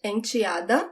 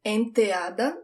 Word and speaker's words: enteada: Stepdaughter, enteada. And it could sound like enteada, different pronunciations.